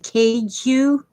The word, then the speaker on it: queijo: Sounds like Keiju.